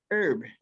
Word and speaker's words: herb: you with your pronunciation the second line symbolic herb h-e-r-b you know English can be very difficult because uh you never know how it's going to be pronounced this one is Sir herb symbolic you're very symbolic but herb we don't